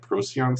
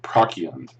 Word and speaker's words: Procyon: Like I'm gonna say the hard C. Procyon.